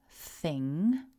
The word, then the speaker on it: thing: here's the script from the dictionary now our pronunciation is thing so we start with the tongue between the